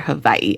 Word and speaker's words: Hawaii: That's how the locals say it there, Hawaii. I was saying Hawaii, but that's how they say it.